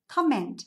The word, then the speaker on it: comment: Nhớ cho qua là cái từ này là comment, âm tiết số 1 nhá. Comment không phải comment ạ, comment là tiếng Việt mình nói thôi nhá.